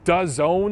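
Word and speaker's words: DAZN: a streaming deal with does own is how it's pronounced it's it's a company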